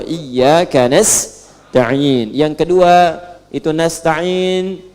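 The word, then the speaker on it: نستعين: nast yang kedua itu nastain dibacanya menggunakan fathah ujungnya sukun Jika ada yang baca menggunakan kasrah itu dari bani Tamim Bani Asad di antaranya kemudian yang paling penting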